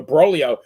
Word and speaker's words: Broglio: So Broglio, yeah, I think the best thing about Broglio is his name rhymes with Cornholio, but he went 7-19 with a Oh, 5.40 ERA for the wow.